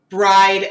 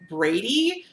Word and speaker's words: Bride: falls in love with bride mctierney now I've also been told that her name might actually be pronounced like Brady it spelled bride though so I've just always called her bride but either way this